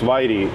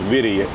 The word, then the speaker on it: Whitey: between this Whitey Bros it's not pronounced Whitey I know it's witty and this freay Lana